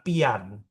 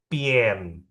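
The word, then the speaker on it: bian: Tapi dibacanya bukan pian. Bukan pian. Tapi pien. Jadi a-nya itu diganti jadi e pien.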